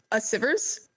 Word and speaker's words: Asivrs: I guess in foremost it's pronounced a sippers a supers sorry - yeah who